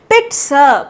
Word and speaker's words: pizza: बट इसको क्या pronounce करेंगे? पिट्सा, पिट्सा।